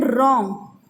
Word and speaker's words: wrong: Then wrong, here W is silent.